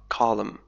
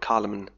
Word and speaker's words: column: Columns تعني عمود، يعني عمود في مجلة أو في صحيفة. column، لاحظ إن لا تنطق، لا نقول column، نقول column.